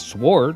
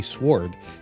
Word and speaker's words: sword: why do you say sword? You don't pronounce the W."